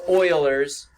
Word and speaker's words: Euler: doesn't have the sailors I said yeah it's pronounced Oilers I don't care how you pronounce it but